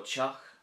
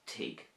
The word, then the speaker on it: teach: So Chock means house, Chock, and it could also be pronounced Tig as well, if you want.